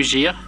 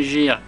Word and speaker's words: Game Gear: La Game Gear, moi je dis Gear, vous savez, l'anglais, je prononce à la française.